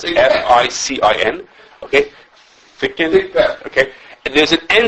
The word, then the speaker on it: ficin: It's called, I don't know how to pronounce it. FICIN.